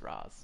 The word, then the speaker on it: Ra's: Freeze, Mad Hatter, and Ra's al Ghul, or Ra's al Ghul, however you freaking pronounce it. It's Roz.